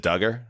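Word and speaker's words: Dugger: Kyle Doug, it's the opposite of helpful. Kyle Doug, is it Duggar? I think it is. That's how I I believe that is exactly what it is.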